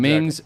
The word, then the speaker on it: Mengs: Red Tiger Martial Arts Ming's, am I pronouncing that right? Yes, exactly. Ming's, MENGS-SWC, to find him on Facebook if you want to follow him.